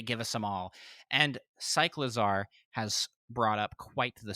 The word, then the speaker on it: Cyclizar: A new Pokemon trailer shows off competitive battle scene and a new Pokemon, Cyclizar. Right? Am I pronouncing that right? That's how I guessed. It was pronounced like cycling and lizards.